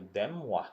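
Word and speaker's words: de Moivre: So Demoivre, that's moi, you pronounce that as Demoivre's theorem. Demoivre's theorem. In short, we can call that as DMT. Demoivre's is actually a French pronunciation, so you can call it Demoivre's theorem.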